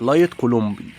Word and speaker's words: لايت كولومبي: مسميات او كولومبي يعني في ناس تقول عليه دجاج كولومبي مربي تاني يقول عليه لايت النطق الصحيح لايت كولومبي سلاله الدجاج البراهمه لايت